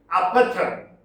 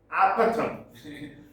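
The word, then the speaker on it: Apophthegms: Now, here is this word is pronounced as apatham. Apatham. Apatham means a kind of jest book. Apatham. Don't worry about the spelling there. The pronunciation is apatham.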